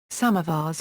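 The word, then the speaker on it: سماور: In Iran, samovars have been used for at least 2 centuries, and electrical, oil-burning or natural gas-consuming samovars is still common. Samovar is pronounced samovar in Persian.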